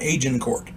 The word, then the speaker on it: Agincourt: o u r t I've heard it pronounced aen court and aan Court uh I'm going with the aning court excuse me something to